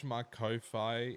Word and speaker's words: Ko-fi: there, if you do !Ko-Fi in the chat, that is a link. If you haven't heard of Ko-Fi, it's like, oh, Ko-Fi. It's like spelled like lo-fi, but it's a K instead of an L.